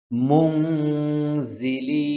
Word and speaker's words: মুনজিলিন: কুন্না মুনজিলিন এখানে গুন্না আছে জি হবে না জিহ্বার আগাটা সামনের নিচের দুই দাঁতের পেটে লাগবে গিয়ে পেটে গিয়ে লাগবে শক্ত করে লাগবে জি লিন এখানে তিন আলিফ টান হবে মুনজিলিন মুনজিলিন মুনজিলিন সম্পূর্ণটা